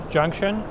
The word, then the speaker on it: Junxion: If you want to search it up, it's Cineplex Junxion, spelled with an X.